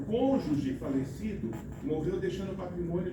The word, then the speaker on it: cônjuge: É cônjuge. Pronúncia é essa, cônjuge. Não tem que. Vocês me viram colocar que? Não é conjugue.